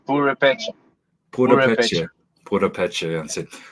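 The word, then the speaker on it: Purépecha: Yeah, I can, it's yeah, called purepecha. Purepecha. Purepecha, Purepecha. That's it. If I hear someone pronounce it, then I can get the sound.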